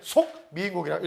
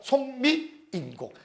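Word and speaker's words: 속미인곡: 사 미국이라고 우리가 되고 얘는 속 미국이라고 읽어야 되는데 뭣도 모르고 송미 인공 3위 인공 이러면 아버지 가방에 들어가신다고 똑같죠 아버지가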